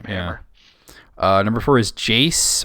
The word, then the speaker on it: Jace: uh number four is jace or jc i don't know how you say it from league of legends it's jace okay i was right the first time then number three i'm